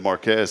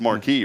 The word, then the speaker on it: Marquez: But I always said Marquez. Someone here corrected me. It's Marquis, right? I don't know. I call it Marquez. Well, it's Marquis. So that's like Bexar County.